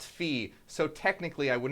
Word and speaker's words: phi: is pronounced P and Phi is pronounced fee so technically I would